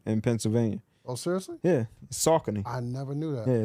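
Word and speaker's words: Saucony: salony river in in Pennsylvania oh seriously yeah sakon I never knew that yeah it's not sakone man I never Tau something new been messing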